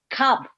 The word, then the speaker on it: cob: So cob, you have to make that be a voice Cop. consonant. Cob. Cob. Yeah, you have to, with that B, you have to make